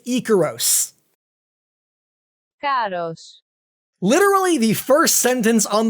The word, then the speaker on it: Ikaros: Icarus is the romanization, yes, but if you check the original Greek, it’s spelt like this, and pronounced as Ikaros!